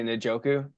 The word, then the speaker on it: Njoku: at David how you say njoku that's exactly how you say it actually you